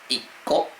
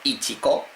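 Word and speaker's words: 一個: Pues nico, iko, no se dice icho, ya os estaréis dando cuenta, pero normalmente el uno siempre no se dice ichi casi nunca, siempre va a ser iko.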